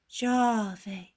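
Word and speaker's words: Yahweh: me if you know jave the boy pronounces it thus a very soft g which is almost a j and a very long a and why does one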